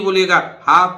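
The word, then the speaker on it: behalf: अर्थात साइलेंट रहेगा भाई इसी तरह देखिए ब हाफ बी हाफ एल नहीं बोलेगा ब हाफ उस मतलब आप किसकी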